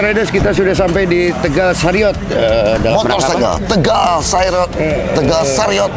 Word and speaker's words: Tegal Sariot: Halo Coklat Riders, hari ini saya sudah hadir di Tegal Riot. Ya, sama Kang Edi ya. Masa sih? Gimana bacanya sih? Tegal Sariot. So Sariot ya. Tegal Sariot. Tegal Sariot ternyata bukan Tegal Riot.